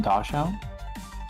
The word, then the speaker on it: Dachshund: We say Dotson. I'm pretty sure that's a different dog. 'Cause dash hound is a German word. Yeah, the breed. Do they not pronounce it dosh hound?